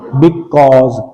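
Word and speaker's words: because: क्या प्रोनाउंस करेंगे, बिकॉज, काओ आओ नहीं करना इस साउंड को, बिकॉज, बिकॉज कैसे बनेगा अब,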